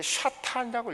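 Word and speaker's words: שָׂטָן: 히브리어로 이게 샤탄이라고 읽어요, 히브리어로.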